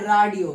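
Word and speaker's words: Radio: राडियो एंड रेडियो spelling same है, बस German में राडियो बोलते हैं और इंग्लिश में रेडियो कहते हैं।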